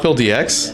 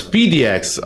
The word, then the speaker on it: PDX: Is it not PhilDX? In fact, most people are not even trying it is PhilDX. Oh, it's PDX.